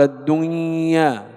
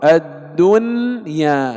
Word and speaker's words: الدنيا: يرملون، إذن حرف إدغام، لكن لا ندغم النون في الياء فنقول الدنيا، لا، يجب الإظهار، الدنيا، كما ننطق ينأون، إظهار، ويسمى إظهارا مطلقا.